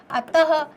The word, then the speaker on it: अतः: तो प्रातः, तो आप देखिए ह का उच्चारण सुनाई दे रहा है। अतः आप बोलते हैं, है ना, अतः।